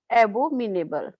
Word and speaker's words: abominable: Everyone felt that his ideas were abominable. Abominable. It has a O sound. Abominable. Yeah, listen. Not O. It is an O sound.